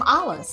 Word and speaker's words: Olis: The H is silent in Olis. You know, I do have to say to people, it's Hollis with no H. It's just Olis.